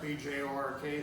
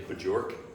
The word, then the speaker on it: Bjork: But well, my problem there was, her last name was Bjork, B-J-O-R-K, Swedish, and I was able to pronounce it. It wasn't, you didn't say Bajork? No, I said Bjork, my mother's name was Bjork, and, that was my, That was Signy.